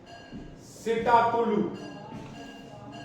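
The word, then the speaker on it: Psittacula: ठीक है, parrot, parrot, parrot, सिटाकुलू, एक पी यहां साइलेंट रहता है, स्टाकुलू या स्टाकुलू।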